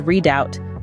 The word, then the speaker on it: redoubt: delve into its meaning usage and importance redout pronounced as redout is a term that originated from the military